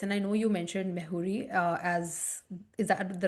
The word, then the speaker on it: Mejuri: And I also want to mention that while we're discussing this and I know you mentioned Mejuri as Is that the right way to say it? Mejuri, yeah.